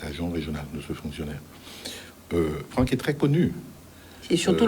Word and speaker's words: Franck: Franck, on l'appelle Franck. Franck. Bon, apparemment ça s'écrit avec CS.